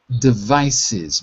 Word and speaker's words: devices: So when you see ES at the end, it usually has an extra syllable. Also like the word devices, mobile devices.